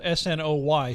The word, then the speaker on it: Senoia: And I know I've heard people say it like it's almost spelled S-N-O-Y, Snoy. Right. You say it Snoy, Senoy, Senoia.